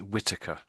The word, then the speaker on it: Whittaker: So Jack and this surname almost certainly is Whitaker.